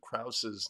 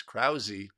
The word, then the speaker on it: Krause: Apparently I've been mispronouncing Jacob Krause's name. It's apparently it's been brought to my attention. It's Krause and not Kraus, which is that is embarrassing for me to have been mispronouncing all this time.